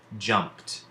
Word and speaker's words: jumped: and jumped Ju MPT in this case the D is actually making the sound that we associate with the letter T now this isn't a